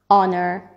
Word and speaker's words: honor: Our, honest, honor.